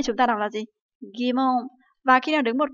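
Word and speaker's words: 疑問: Ví dụ như là nghi vấn thì chúng ta đọc là gì? Gimon.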